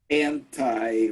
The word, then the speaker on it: anti: Yes, but when I said, do you know anyone who is actually anti or anti, both pronunciations are acceptable, vaxxer?